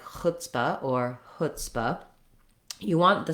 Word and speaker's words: chutzpah: So back to chutzpah, we have the letters TZ say voiceless t and s. So there's no z sound even though we have the letter C.